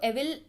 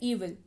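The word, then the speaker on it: evil: ईविल यानी कि बुराई, इसको एविल पढ़ते हैं कई लोग बट एक्चुअल में इसका प्रोनाउंसिएशन होता है ईविल, बुराई यानी कि दुष्ट।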